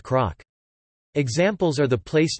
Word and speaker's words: cnoc: The word CNOC hill would therefore be pronounced croc.